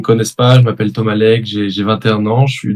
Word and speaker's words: Leygue: Mais du coup, si je prononce bien, Thomas Legge.